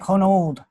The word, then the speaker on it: Honnold: pronounce it yes it's Honnold in the United States in Germany it's more like hone old on old okay yes